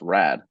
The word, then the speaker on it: Raad: name is really hard it's one syllable it's rad and people from my whole life have called me rad instead of just because it's two syllables so I wanted something